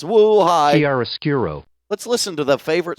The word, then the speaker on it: chiaroscuro: It's oh yeah, I'm pronouncing it wrong. Nilbog is telling me it's Chiaroscuro. it's woo hi. Chiaroscuro.